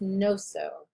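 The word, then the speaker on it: gnoso: erythro gastro glyconoso um when there's a g and an n you drop the sound of the g it's just no so um but the next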